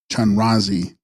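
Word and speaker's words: spyan-ras-gzigs: in white raymon text span Ras zigs pronounced chanrai Sanskrit avales theara down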